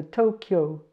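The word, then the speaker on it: 도쿄: Oh, yeah, I need to say the D can sometimes sound like a T. So that's a T in this case. T. O. Here's a K. And a Yo. So Tokyo. Tokyo.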